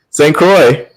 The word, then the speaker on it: St. Croix: It's probably pronounced that way with a French accent. Because the OIX. Croix.